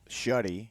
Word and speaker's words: Shuddy: And am I still pronouncing that correctly? Shuddy? Well, Shuddy. Shuddy. Nobody gets it right anyway.